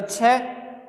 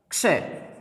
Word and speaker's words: क्षय: अक्षय या छय नहीं, किन से मिलकर के बना है वो ही ध्वनि हम निकालेंगे तो इसका शुद्ध उच्चारण निकल जाएगा। क्षय किससे मिलकर बना?